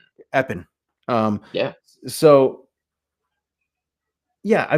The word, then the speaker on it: Epping: It's in the woods to the point where they don't pronounce the G on the name in that town. Mm, Epping.